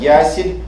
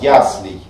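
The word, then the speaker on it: яслей: Очень многие говорят ясель и многие говорят еслей. Оба варианта неправильные. Правильный вариант - это вариант с окончанием ей, но с ударением на первый слог. Ясли, яслий, яслий.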